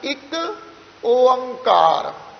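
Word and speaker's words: ਇੱਕ ਓਅੰਕਾਰ: जदों ऊड़े का मूँह खुला होवे सो इहदा असल में शुद्ध उच्चारण है एक ओंकार।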